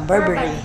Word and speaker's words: Burberry: Am I say right sa pronunciation ng Burberry? Ano ba? Burberry. Oh, Burberry.